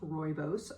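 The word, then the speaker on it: rooibos: liver and Ginger is really good for digestion royos teas it is pronounced royos are naturally caffeine-free and they all have anti-inflammatory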